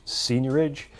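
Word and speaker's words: seigniorage: which is known as senior age it's spelt SE IG and io r a GE senior age and what that means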